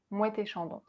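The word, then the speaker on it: Moët et Chandon: And we pronounce it as if it was just one word. Mouette et Chandon.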